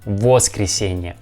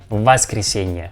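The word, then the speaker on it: воскресенье: letter o o yes but we pronounce this word with the letter ah ah i mean we don't pronounce like was christina was christine because we feel letter o we pronounce like vas christenia okay i suggest you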